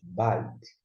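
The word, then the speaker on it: בית: B com A, ba. Com I, bai. E aqui, som de T. Você pronuncia bite.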